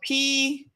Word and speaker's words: Pooja: So her name is spelled P-O-O-J-A Pooja, Dr.